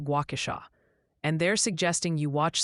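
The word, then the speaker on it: Waukesha: Also, a very vocal committee from Wisconsin would like to inform you that Wauasha is pronounced Guauasha, and they're suggesting you watch some Charlie Baron's videos for homework.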